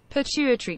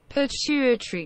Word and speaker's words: pituitary: say it correct let's google it will be pituitary gland pituitary gland pituitary gland is just under your brain mainland hormones are made in parts of the particles glands the most important is the pitcher pituitary gland in your brain its Hartman's controls many